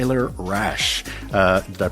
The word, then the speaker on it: Rasch: down and getting to know more about t rash uh did I pronounce that correctly yeah yeah yeah yeah rash